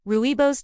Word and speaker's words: rooibos: Rooibos tea, the heart protector from South Africa. Rooibos, pronounced rooibos, comes from the mountains